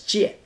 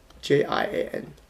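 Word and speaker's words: 贱: That's the basic meaning of this character, pronounced as jian, the same as this, J-I-A-N, fourth tone, jian.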